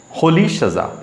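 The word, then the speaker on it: Rolihlahla: এটার উচ্চারণটা হচ্ছে হোলি সাজা, তাহলে নেলসন হোলি সাজা ম্যান্ডেলা।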